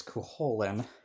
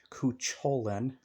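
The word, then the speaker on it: Cú Chulainn: says in here it's kuholen people pronounce it like kucholen no the C is silent next to the H um and then there's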